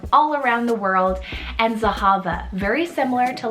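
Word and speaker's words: Zehava: with that is the name zahava spelt z-e-h-a-v-a zahava and this one is a hebrew originated name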